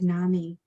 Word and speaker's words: NAMI: group of moms so you can always remember how to pronounce nami at least in the midwest is nami mommies they're the ones who really